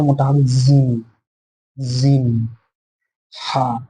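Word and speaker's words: حاء: মোটা হবে জিম, জিম, হা, এই উচ্চারণটা একটু গলার ভিতর থেকে হবে, হা, হা, খ, খ, এটা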